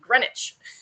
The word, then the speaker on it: Greenwich: We went to Greenwich. I think that's how you say it. It's spelled like green and witch, but they say Greenwich.